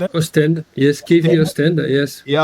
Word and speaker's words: Oostende: Oostende.